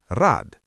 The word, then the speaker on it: Rad: Rad which means wheel has a d at the end but we say t and k which means child also ends with t while pronouncing. Listen. Rad.